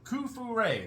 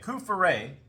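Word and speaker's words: Coup-fourré: And you can say, oh, I'm trying to remember, Kufure, that's how you say it, Kufure.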